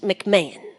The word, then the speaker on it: McMahan: there on the webland, it's spelled like McMahan, sort of. It's McMahan, but it's just McMahon. Yep. Because we live in the South. Well, the rest of my family's McMahans, but I'm a McMahon.